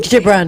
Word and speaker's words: Gibran: A little quote from, I'll try to pronounce this person's name, Kahil Gibran. Gibran, And Khalil he said- Gibran, yeah.